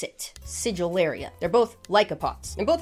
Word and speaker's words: Sigillaria: Doesn't sound right, but that's apparently how you pronounce it. Sigillaria.